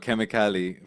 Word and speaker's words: kemikali: So we got Kemikali from being a chemist. Yeah, Obviously, Um, I'm from East Africa, Tanzania, Kenya, yeah. and chemicals in Swahili is kemikali, this the same way it's spelled.